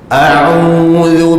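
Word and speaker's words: أعوذ: Jadi kita baca satu-satu, biasanya akan dapat yang tepat. A'udzu bil, gitu. A'udzu, sebutannya a'udzu, macam tu.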